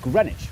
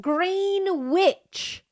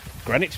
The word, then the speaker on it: Greenwich: This is the East London suburb of Greenwich, where you don't pronounce the W or one of the E. And right here is the place where British standard time was standardized since 11 o'clock. Green witch.